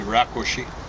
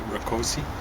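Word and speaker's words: Rákosi: just missed his name I suspect it's Hungarian which case it should be rakushi but accident on the Press but he probably mispronounced rakosi new directions paperback offering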